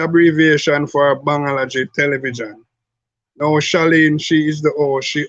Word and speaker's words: Shaleen: Not Shaleen. How would you pronounce it? Shaleen. Oh, Shaleen. Yeah. Like Sha, and then you lean to the side, like that.